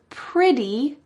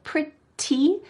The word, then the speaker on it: pretty: She says the word pretty with a D sound. She doesn't say pretty, even though there's a T.